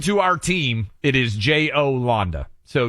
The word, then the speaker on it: Jolanda: According to our team, it is J-O-Landa. So Yolanda is typically a name that would be popular, but this, according to our team, is Jolanda. Okay. Maybe it's pronounced. No, Yolanda you're probably right.